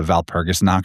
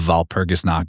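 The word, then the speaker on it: Walpurgis: wall or V of Val Pergus is obviously the same as Belle VB switch like it's spelled with a W. They pronounce it as a V and V switches with B.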